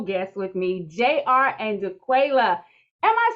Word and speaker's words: Jaquela: Which is the right pronunciation? It's JR. You got it right. No, you got it right. It's Jaquela.